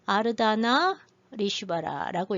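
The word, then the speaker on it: Ardhanarishvara: 아르다나 리슈바라라고 읽어요.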